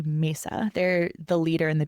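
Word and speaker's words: Masa: There's a huge beauty incubator called Mesa. I hope I'm pronouncing that right. It's M A SA. Mesa.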